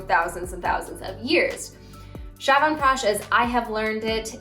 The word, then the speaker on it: Chyawanprash: across like through thousands and thousands of years shyavan prash as i have learned it is spelled this way pronounced shavan prash again there are other variations this is how